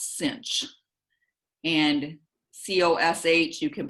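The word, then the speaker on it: sinh: weird so for example s-i-n-h we pronounce cinch and c-o-s-h you can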